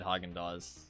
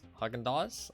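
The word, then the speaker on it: Häagen-Dazs: right I think there there's an S at the end um but I mean I guess it's silent I don't [ __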